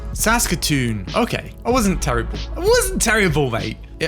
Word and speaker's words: Saskatoon: How do you pronounce it? Saskatoon. Saskatoon.